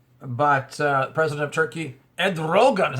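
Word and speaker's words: Erdoğan: trouble in Turkey but uh president of Turkey Ed Rogan is how you say his name uh said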